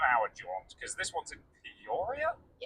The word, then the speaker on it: Peoria: Um specifically speaking, it's about a seven hour because this one's in Poria. Yeah. Is that how you pronounce it?